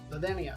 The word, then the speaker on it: Ladenia: called um the then ladenia the dania the d is pronounced like a th it is a greek